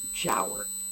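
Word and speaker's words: Giaour: tower it is pronounced jower it rhymes with flower okay she g-i-a-o-u-r i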